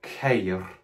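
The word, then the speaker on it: χείρ: Fourthly, we have the noun cair, which is one of the most difficult nouns to pronounce in my experience of ancient Greek.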